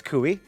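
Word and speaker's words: Coie: spell Dan pronounced Don it looks like koi but it's kui kui yep it's kui and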